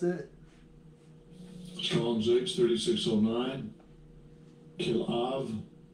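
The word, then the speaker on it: כלאב: His second chelub and this is how they pronounce it. Strong's H3609. Kilav. Kilav. Kilav.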